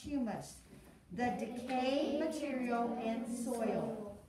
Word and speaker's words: humus: Humus, that is pronounced humus, the decayed material in soil, like leaves or even dead animals, right?